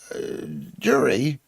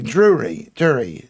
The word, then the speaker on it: Dury: One of my musical heroes, comma, the late, great Ian Dury. It's not Drury, used to say, hit me with that rhythm stick.